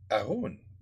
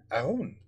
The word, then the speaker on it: Haroun: Well, I probably pronounced it wrong. Haroun. Right? You don't pronounce the H. Haroun.